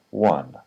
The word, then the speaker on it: one: line one and one IPA one the sound in the middle there is ah that is very short one he won first